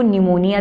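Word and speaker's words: pneumonia: की डेट में आपको निमोनिया भी पड़ा था जिसमें पीस साइलेंट है आपसे यहां पर भी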